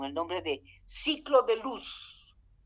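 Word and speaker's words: Looss: nombre de ciclo de luz se escribe l o o s luz no luz luz de luz sino los en realidad c se pronuncia luz qué fue quién lo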